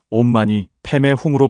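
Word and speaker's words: ॐ मणि पद्मे हूँ: 사실 이 6글자는 산스크리트어로 옴마니 파드메 훔이라고 읽습니다. 티베트에서는 옴마니 페메 훔으로 발음하고 우리나라에서는 옴마니반메훔으로 음역했습니다. 그런데 이 6글자를 단순히 번역하면 옴, 연꽃 속의 보석이여, 훔이라는 뜻입니다.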